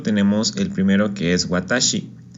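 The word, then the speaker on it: 私: Este kanji se lee con las 3 letras que tenemos acá abajo: watashi, watashi, ¿ok? Entonces cada vez que leamos este kanji vamos a leerlo como watashi.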